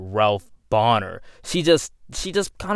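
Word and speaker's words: Bohner: character now his name is not called ralph boner it's called ralph bonner she just she just kind of pronounced it wrong in my opinion that's how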